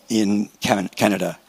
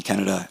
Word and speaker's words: Canada: So after some thought, we decided that we would locate it in Canada. I'll say it, the English pronunciation Canada and the French pronunciation Canada.